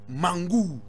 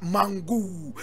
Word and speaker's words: Mangou: Now, today we are talking about Sarraounia, Mangou.